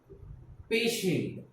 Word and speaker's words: patient: Patient, P A, how to pronounce it? P A, pay. Now T, here T is not to be pronounced like T, but sh.